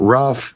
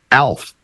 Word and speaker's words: Alf: It's a one syllable word. It's not rough. It's ALF. Alf.